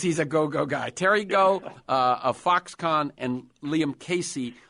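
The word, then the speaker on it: Gou: Terry, is it pronounced Go or Gao? He says go. It's G-O-U. Okay. And I guess if he was saying it in English, he'd say go.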